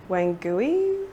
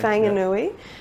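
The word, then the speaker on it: Whanganui: film that there's the river in New Zealand wangui River how do you pronounce it oh I think it's is it wangui Wang Wang maybei is it yeah okay sorry Fang anui um yeah you mentioned that in the film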